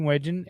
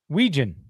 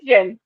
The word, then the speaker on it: Wetjen: There is a signing of Mark Gronowski and Caden Wedgen at the JCD and Hobby. What? Back up. Say his name right. Wetjen. What's his name? What? Wetjen? Wetjen.